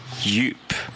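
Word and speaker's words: djup: Alors, des J qu'on trouve dans le mot yup, par exemple, se prononce comme un Y en français. Yup. Yup. Yup. Yup. Alors, vous voyez qu'on n'entend pas du tout le D ici, hein? Yup. Un tout petit peu.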